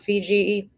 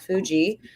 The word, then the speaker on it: Fuji: And then you see you make your way past Mount Fiji. I'm gonna once I get it wrong in my head, I say it wrong. Mount Fuji.